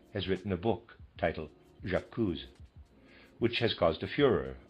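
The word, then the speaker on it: J'accuse: He says Jacuzz and I'm going to spell that J apostrophe A C U S E. Excuse me. I would pronounce that Jacuzz.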